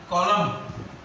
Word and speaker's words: column: Column. N silent.